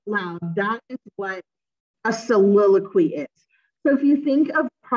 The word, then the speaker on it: soliloquy: So if you look at the first one here, this is pronounced soliloquy.